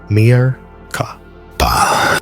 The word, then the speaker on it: Merkaba: Merkaba. 3 syllables, 3 elements, 3 forces that form the core of your being.